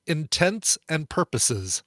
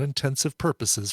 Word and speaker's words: intents and purposes: This is the song frequently mispronounced as it was last week's feud, Intents and Purposes, not Intensive Purposes.